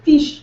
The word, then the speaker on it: fiche: Yeah, anything that's spelled with a I-C-H-E, microfiche. Do you guys remember the microfiches at the library? Like, seriously, it's fiche. I'm pleading the fifth. Little teeny fish. No, not fish. Fiche.